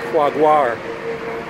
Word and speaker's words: Jaguar: If you're pronouncing it in Spanish, it's Jaguar.